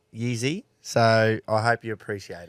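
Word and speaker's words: Jiří: Alex Pereira and Yizi Prohaska. Yeah. So Czech fighter. I studied how to pronounce that, Yeezy.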